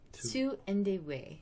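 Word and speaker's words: Tu-Endie-Wei: Indeway.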